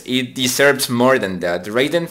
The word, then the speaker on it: Raiden: Another shoot 'em up, Raiden 4, that's how you pronounce this.